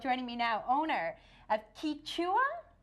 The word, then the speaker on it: Quichua: me now owner of kicha am I saying it right it's kicha kicha kicha faster kicha Pop Shop here